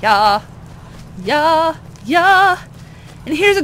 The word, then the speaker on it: Jarl: The Jarl that starts with a J, but everyone pronounces it Ya.